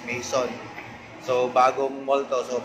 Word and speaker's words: Maison: Saglit, hanapin muna namin sa Google kung paano yung tamang pronunciation. Maison. Yun, so narinig nyo kung paano i-pronounce yun. Maison.